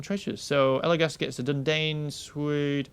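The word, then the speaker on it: Dúnedain: So Elagast gets a Dundane Sword. Dundine, actually. I even said this at the beginning of the actual video. It's pronounced Dundine, not Dundane.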